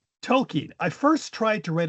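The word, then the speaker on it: Tolkien: We were looking the other day and I found this on Tolken correctly pronounced or Tolken as we mostly pronounce it and he was talking I didn't really like his mom on this.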